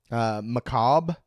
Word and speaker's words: macabre: Macabre is, I think, how you're supposed to say it. But there's a fucking R in there.